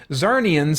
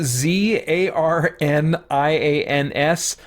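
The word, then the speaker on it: Czarnian: far as I remember zarnian if that's how you pronounce it Lobo his race is c z a r n i a NS I can't remember what they said in I think it's zarnian they said in the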